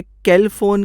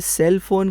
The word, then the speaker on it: cellphone: Spelling है CELLPHONE, CELL, लेकिन सी की आवाज़ तो क होती है, तो मुझे कैल फोन कहना चाहिए था। ये सेल फोन कैसे हो गया?